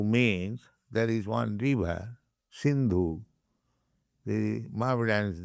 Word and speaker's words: Sindhu: Hindu means there is one river, Sindhu. The Mohammedans, they pronounce Sa as Ho.